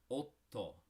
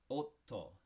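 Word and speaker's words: 夫: husband, the word is otto. Otto. Now, you see that there's 2 consonants there, 2 T's. That just makes a little stop in the middle of the word, and it sounds like this.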